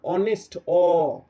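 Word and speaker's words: honest: words begins with vowel sound কি ব্যাপারটা যে অনেস্ট অথবা আর আওয়ার ওকে অনেস্ট অথবা আর এই যেটা এই দুটো ওয়ার্ড কে আমরা দেখো অনেস্ট বলছি না এচ এর উচ্চারণ করছি না অনেস্ট অ্যাচ দিয়ে শুরু হলেও এর প্রোনাউন্সিয়েশনটার উচ্চারণটা শুরু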